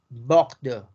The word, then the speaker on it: Bordeaux: Bordeaux. Bordeaux.